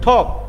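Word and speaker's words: talk: আউট বলা হয় হ্যাঁ টক উচ্চারণ আমরা টক বলি টক টক কিন্তু এ ইংরেজিতে এর উচ্চারণটা ওয়ের মতন একটা হ্যাঁ আমরা আমরা তখন যদি শুদ্ধ উচ্চারণের দিকে যাই হ্যাঁ আমাদের স্টুডেন্ট তারা নিশ্চয় জানেন আমি শুদ্ধ উচ্চারণের দিকে একটু নজর দেওয়ার চেষ্টা করি সেজন্য বলছি এখানে উচ্চারণটা ঠক আমরা ঠক ঠক করে না সেরকম ঠক ঠেক ঠক নয় টক নয় ঠক স্পিক আউট কথা বলা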